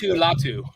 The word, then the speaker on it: Latu: Why don't you pronounce his name again there, Troy? Latu.